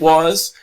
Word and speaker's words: was: was she was it was you where we were they were okay now the important thing here the pronunciation is that the S sounds like a z was was was I got there okay